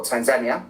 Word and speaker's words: Tanzania: did K Kenia and Tanzania or Tanzania as as the locals say it and I did a